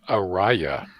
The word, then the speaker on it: Ariya: The Nissan Ariya, Yeah.